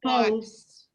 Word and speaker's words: twice: 2 times a week is then the pronunciation is twin or Twice, twice, twice. twice. Two. And if you look at the word, the last 3 letters are ICE. That's like the ice that you to get out of the refrigerator.